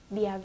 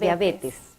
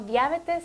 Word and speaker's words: diabetes: Bien, entonces la correcta pronunciación es diabetes. Diabetes. Sí, vamos a pronunciar de ahora en adelante correctamente esta palabra, no diabetes, sino diabetes.